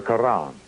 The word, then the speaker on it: Quran: on or in the quran notice how i pronounce that with the flavor of an arabic intent notice how i pronounce